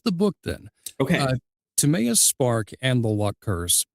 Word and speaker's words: Timeaous: okay, Uh, Timeaous Spark and the Luck Curse is set in the world of Mythantis. Now, did I pronounce both correctly? you did. Timeaous and Yes, you Mythantis?